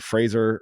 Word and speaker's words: Fraser: I want Fraser rhymes with razor action, and I also got that.